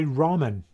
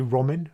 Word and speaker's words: Ramin: uh richard scott hi rahman very good my name's actually roman roman it's funny though because american people always pronounce my name ramen because they have noodles there which sound like ramen yeah anyway hi ramen